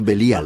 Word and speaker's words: Belial: Beli-Yaal, que nosotros pronunciamos Belial.